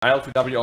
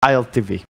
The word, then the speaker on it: ILTW: ILTW also plays a very good Troll Warlord. But it's pronounced ILTV. ILTV? I think it's ILTV. ILTV plays very good Troll. W in Acrylic language is a V.